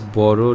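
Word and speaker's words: বড়: Notice how the lyrics read Bodo Loker Beti, but it is pronounced as Boro Loker Beti.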